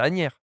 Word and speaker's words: Asnières: Alors, j'arrive jamais à le prononcer. C'est Asnières ou Asnières? Non, c'est Asnières. Agnières. Moi, Ouais, je dis Agnières, en tout cas.